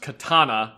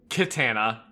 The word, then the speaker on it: katana: It's pronounced katana, not kitana.